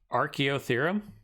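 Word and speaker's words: Archaeotherium: yet I want to show you guys it's pronounced archeo theorem okay cool I'm cool with that let me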